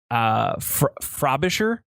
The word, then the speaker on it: Frobisher: And this has to go to a person named Martin Frobisher. Frobisher, I think is how you say his name.